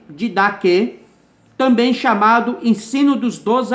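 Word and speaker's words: Didaquê: O didaque, palavra grega que tem o significado ensino, pronuncia-se didaque, também chamado Ensino dos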